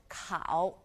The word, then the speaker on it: 考: tone marker, 思, and 考, 考, K-A-O, third tone. Now, 考 is the ow in 考 is quite similar to the ow sound in English. It's just a slightly softer pronunciation, 考.